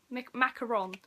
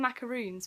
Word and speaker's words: macaron: Macaron. Which is great, because I love macaroons. I'm probably pronouncing that wrong. I've always pronounced them macaroons, but there's only one O.